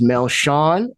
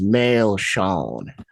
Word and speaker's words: Melchion: My name is Melchion, and the way they pronounce it down there is Melchion.